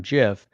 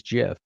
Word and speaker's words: GIF: wilt of compuserve when deciding on the pronunciation said he deliberately chose to echo the american peanut butter brown jif and compuserve employees would often say choosy developers choose jiff playing off all gifs